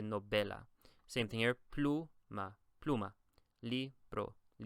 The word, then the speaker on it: novela: The second to last syllable is the VE. And so I would say novela. I would never say novela. I always say novela.